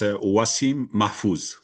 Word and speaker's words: Wassim Mahfouz: Can you pronounce it properly? Wasim. Yes, it's Wasim Mafuz. Wasim Mafuz.